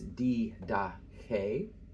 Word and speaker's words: Didache: This word is Didache. The accent is here on the last syllable.